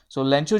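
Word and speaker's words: Lencho: लेंचो जो है वो एक ऑनेस्ट फार्मर है। लेंचो हम इसलिए कह रहे हैं क्योंकि स्पेनिश वर्ड है, और स्पेनिश में जो प्रोनाउंसिएशन होगी वो लेंचो कहलाई जाएगी।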